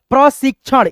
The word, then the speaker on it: प्रशिक्षण: फिर यहां पर देखिए प्र सी और यह छ के साथ में क का उच्चारण होता है। जैसे प्रसिक सिक यानी स के बाद क का उच्चारण आएगा। प्रसिक उसके बाद से छ आ प्रशिक्षण इस प्रकार से है ना देखिए